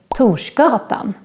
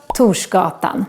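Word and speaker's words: Torsgatan: and end up in tushkaratan the street of thor and remember that we make this sound when we write together r and s in swedish like in these words toshta tushkotan let's move on to other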